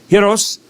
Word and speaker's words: gyros: I mean, you got hand cut uh hiros. I see I'm saying it correctly now. Not gyros, but hos suaki.